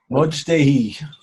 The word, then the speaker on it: Modei: his name is Mark Modei. I don't know how to say it. Modei. Modei. That's even better. Oh, much better than how I said it.